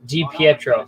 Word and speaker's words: DiPietro: DiPietro, that's how you pronounce it.